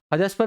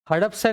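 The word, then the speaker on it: Hadapsar: आर आ रहा है हदस्पर correct pronounce कर रहे हैं हड़प हड़पसर है please check it ऑन द Google इट्स हड़पसर और हदस्पर एच ए डी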